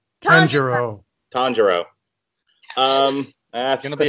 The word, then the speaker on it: Tanjiro: we start off with um how do you pronounce the name tyranju tanjiro tanjiro um that's gonna be a long show